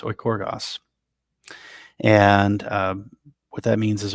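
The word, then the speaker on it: οἰκουργός: working at home, uh, that word is or oikorgos, I believe is how it's pronounced, oikorgos.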